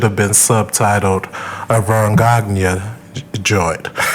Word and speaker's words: Gagne: The 1974 version, which should have been subtitled a Vern Gagne joint. How do you say his last name? Gagne. It's French.